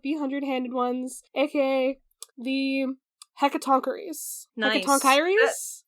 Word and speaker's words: Hecatoncheires: And according to How Jay Say, it's pronounced Hecatoncheires.